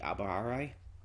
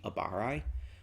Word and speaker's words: Abarai: goatee 13 captain biaky akuchi and lieutenant renji abbaharai i butchered that when i was saying it renji abarai um when they come to fetch rookia ichigo